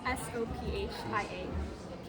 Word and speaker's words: Sophia: S O P H I A. And pronounce it.